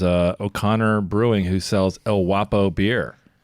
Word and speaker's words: Guapo: I don't think a G is ever silent in Spanish. El Guapo means the handsome one, and it's pronounced Guapo.